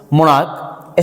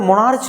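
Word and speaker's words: monarch: अब मोनार्क का देखिए यहाँ पर मोनार्च नहीं होता है, ये जो सी एच है ना, इस सी एच का जो साउंड आता है, प्रोनाउंसिएशन है, वो यहाँ पे सी एच का मीन्स चौ नहीं है, मोनार्क क है, इसीलिए यहाँ केवल एस लगा।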